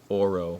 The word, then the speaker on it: OLO: this in japan so it is spelled o l o olo but i think it is pronounced oro with the r um another thing i